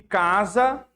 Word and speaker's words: casa: Vamos diferenciar o casa, olha a pronúncia desse S de casa, da diferença de S de sapo. Olha como o som é a mesma letra, casa, sapo, mas o som é diferente.